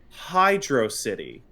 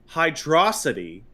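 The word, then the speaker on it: Hydrocity: 3 just now, you correctly latched on to the actual pronunciation of the stage being Hydro City and not Hydroity has performed and spoken by freaks.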